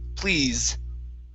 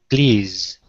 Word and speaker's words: please: up we have please this is going to be a voiced s at the end z please please there you go good